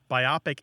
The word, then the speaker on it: biopic: I and the O It's divided between the O and the P um I estimate about